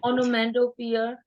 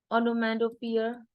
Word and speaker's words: onomatopoeia: to pronounce it. O-N-O-M-A. Onomatopoeia. Onomatopoeia.